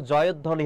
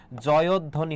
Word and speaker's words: জয়ধ্বনি: উচ্চারণ জয়ধ্বনি হবে। কি হবে? জয়ধ্বনি। যুক্তবর্ণ যেটা থাকবে সেটা হচ্ছে তুমি বিযুক্ত অবস্থায় লিখবে, এবং ব ফলা যেহেতু মাঝে রয়েছে সেক্ষেত্রে উচ্চারণটা হবে না।